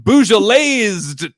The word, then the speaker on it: Beaujolais: This wino is fino versus getting Beaujolaised tonight. Okay, well, you don't pronounce the S, so I will do a better read for the squad.